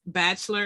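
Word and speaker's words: Batchelor: tic toc linkedin and it's bachelor it's spelled b-a-t-c-h-e-l-o-r it's baster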